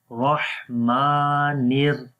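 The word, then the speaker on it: الرحمن: So we say again, Rahmanir, Rahmanir, Rahmanir. And ra has fatha, we read heavy sound, ra. And then ha we connect with the ya.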